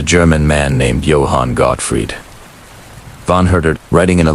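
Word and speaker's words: von Herder: Von Hurder, writing in a letter dated 1774. And yes, I know it's tempting to say Yan Zed, but please don't. It's pronounced Vonurder.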